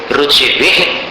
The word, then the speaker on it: रुचिभिः: रुचिभिः परमाणुभिस्त्वं रुचिभिः परमाणु, ये नहीं बोलना, रुचिभिः विसर्ग का विसर्ग जैसा उच्चारण होना चाहिए।